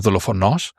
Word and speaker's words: δολοφόνος: It's not δολοφόνος, it's not δολοφόνος, it is δολοφόνος. And you see the tone, right? Make sure you put the stress, the emphasis where the tone mark is.